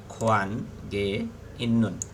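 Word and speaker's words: 관계 있는: তারপর হচ্ছে খোয়ান গে ইন্নুন মানে সম্পর্ক থাকা, খোয়ান গে ইন্নুন, এখানে গিয়েটাকে আপনি গে উচ্চারণ করতে পারবেন, খোয়ান গে ইন্নুন সম্পর্ক থাকা।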